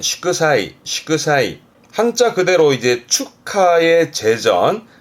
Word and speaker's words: 祝祭: 발음은 시크사이.